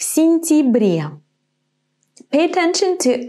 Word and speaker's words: сентябре: Why in this word я is not я, but и в сентябре?